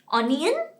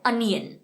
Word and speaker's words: onion: ऑनियन, ONION, ऑनियन। गलत, हम इसे कहते हैं ऑनियन, बट इसका करेक्ट प्रोनाउंसिएशन है अनियन। Okay, the letter O is replaced by the sound of A.